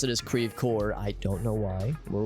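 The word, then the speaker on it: Creve Coeur: like De Pere is spelled d-e-s-p-e-r-e-s we do pronounce it correctly but others like Creve core now in French it's crev qua which is French for broken heart but here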